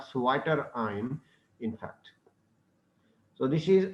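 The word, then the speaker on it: zwitterion: So that's why this is called Sweater ion, in fact. So this is a SWI. It is ZWI SWI. It is been pronounced SWI, but it is written ZWI Sweater ion.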